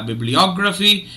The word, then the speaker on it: bibliography: the word is uh bibliography it divides itself into five syllables bib Lee or graphy and there are two stress syllables the secondary stress is on Bib and the primary stress is on OG okay all right so